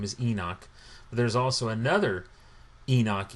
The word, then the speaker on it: Henoch: And what's interesting is the Ethiopic version of the book of Enoch, they pronounce it as Henoch.